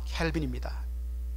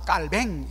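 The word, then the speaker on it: Calvin: 바로 존 켈빈입니다. 이 불어식으로, 프랑스 사람이기 때문에 불어식으로 오늘도 제네바는 주네브, 바로 불어권이죠. 스위스지만. 그래서 존 깔뱅 이렇게 발음합니다만 영어식으로는 존 켈빈입니다.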